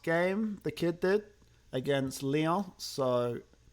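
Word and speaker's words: León: He got man of the match last game, the kid did, against Leon. So, I say Leon like it's French when it's Mexican.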